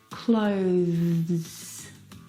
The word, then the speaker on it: clothes: sound this word has the th sound clothes clothes it's very short but it's definitely there I need to pack my